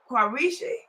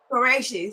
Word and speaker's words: Quraishi: Okay, so we're trying to get our host Taher Quraishi. Is that how we pronounce his name? Toya Quraishi, Qureshi. Mr. Okay, Quraishi, yes, so ma'am. Qureshi.